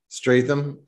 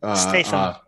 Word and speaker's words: Statham: Statham. Statham.